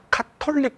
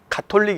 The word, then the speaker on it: 가톨릭: 이렇게 그분들이 발음을 하시더라구요 그래서 이제 표준 발음은 가톨릭 이에요 가톨릭은 같아요 그런데 이제 o 옛날에는 캐터리 카톨릭 이렇게 바램을 했죠 근데 가톨릭 이라는 발음이 저의 서 저로서는 상당히 익숙하지 않는 발음 이에요 그래서 카톨릭이 정상적인 발음 같아요 그래서 우리는 이제 카톨릭